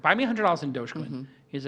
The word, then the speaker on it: Dogecoin: Um and it's pronounced douchecoin or dogcoin.